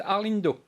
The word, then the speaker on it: Arlindo: Comment prononce-t-on votre nom? Alors c'est Arlindo. Arlindo.